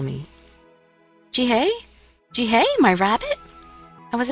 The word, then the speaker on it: Jihae: be found yeah so i heard him say his name is jihae so i'm going to say pronounce it as jihae from now on if